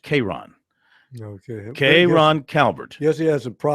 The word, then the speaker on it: K'Ron: Now, this first name pro is spelled K''Rojhn. It's pronounced K'Ron.